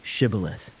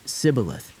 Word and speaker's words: Shibboleth: When he said, "No," they said to him, "Then say Shibboleth." And he said, "Sibboleth," for he could not pronounce it right.